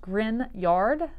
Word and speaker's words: Grignard: was a person called grignard and that's spelled a little bit different than it's pronounced so it's pronounced grin yard but it's spelled grig nard so just to make